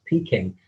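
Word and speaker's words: Peking: the early 1400s but the europeans of course with their pronunciation would often refer to it as peaking um from the end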